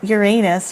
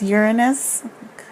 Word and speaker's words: Uranus: how do you say it's not Uranus right its Uranus so he's a funny